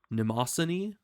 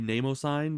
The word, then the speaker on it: Mnemosyne: think it was like Mnemosyne or something. I don't remember, but I always just say Namosine because it's the M is silent, so then Namo, and